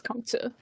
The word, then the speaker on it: Kongzi: So, Fibonacci Reductio ad Absurdum 8 notes that the Tzu in Sun Tzu and the Z in Kongzi are the same character pronounced the same way. So for Kongzi, it's Kong Tzu.